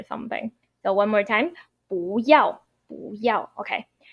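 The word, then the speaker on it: 不要: Your 不 need to pronounce as second tone. So it's 不要.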